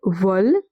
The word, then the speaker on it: veulent: Ils, elles veulent, they want. E n t at the end of a verb is always silent.